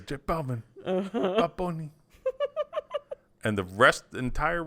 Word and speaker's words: J Balvin: And he says, J Balvin. J Balvin, man. Bad Bunny. J Balvin. Yeah. Not Hey Balvin? And it's not like Hey Balvin. Hey Balvin. No, he says J Balvin.